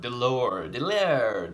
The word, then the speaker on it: DeLauer: DeLauer, DeLauer. Power's last name is pronounced.